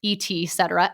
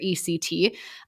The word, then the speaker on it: et cetera: and you brutus and so it's etc et et cetera et cetera not etc like ex or ect and so yeah it's